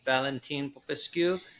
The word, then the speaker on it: Valentin Popescu: We are here today with the one and only Valentin Popescu. Please correct me if I pronounced that wrong. That's okay. Pronounced very well.